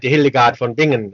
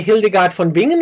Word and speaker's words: Hildegard von Bingen: actually the first one, the coffin dance, and that was just I think just a few days before the Hildegard von Bingen cover.